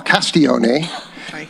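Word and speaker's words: Castiglione: Castigloney. Hello. My name is uh Castion. And uh my Sicilian grandfather uh taught me how to pronounce it. I went back to the original Italian pronunciation.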